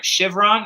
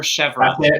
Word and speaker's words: Chevron: the the pronunciation right chivron or chevrolet you got it the first time for years chevron tower